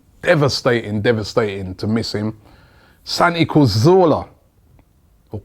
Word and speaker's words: Cazorla: Santi Cazorla, or Cazorla, as people keep cussing me and saying that I should pronounce his name right.